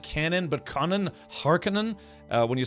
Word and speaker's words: Harkonnen: But the thing is, over the years, yeah, different movies and video games and stuff have pronounced it more like Harkonnen, as opposed to Harkonnen.